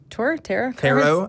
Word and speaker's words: tarot: I am really excited, but I have had tarot. Tarot. I think tarot is the pronunciation.